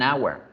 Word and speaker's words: hour: Se debe decir an hour, an hour, an hour. Entonces, la letra H también hace parte de esas letras que yo debo tener cuidado de analizarlas, porque a veces suena como consonante, a veces no suena. A veces la consonante no suena.